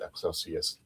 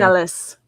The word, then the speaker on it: Excelis: Uh, we're going to be go ahead and reviewing uh the episode Excelsius Dawn. Excelsius uh rising. Excelis.